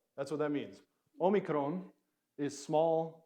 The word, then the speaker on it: Omicron: this one right Omicron now in erasmian it was pronounced as a short o sound of ah like and so you might have heard about the logos but in modern Greek it sounds like a oh logos would be the